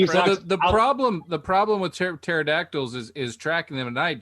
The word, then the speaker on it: pterodactyl: So the problem with pterodactyls is tracking them at night. Generally, you'd use the sounds of urination, but everybody knows that the pterodactyl, the P is silent.